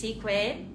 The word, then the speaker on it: Ikue: and fashion Maneuvers welcome my name is equ my name sounds like eco-friendly eway can you can